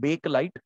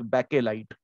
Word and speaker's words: Bakelite: This is one word which is mostly pronounced in a wrong manner. People call it bakelite. It is bakelite.